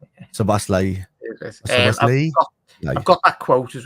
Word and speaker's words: Szoboszlai: But I think Gabor says I'm pretty close anyway with that pronunciation. Szoboszlai.